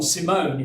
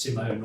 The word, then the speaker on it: Simon: and finally dr john simone it's pronounced simone rather than simon um the probably the